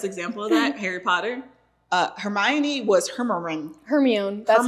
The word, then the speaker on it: Hermione: Hermione was Hermione. Hermione. That's how Hermione. we said it. Yeah. We said it at home. Yeah. She more or less she was Hermie.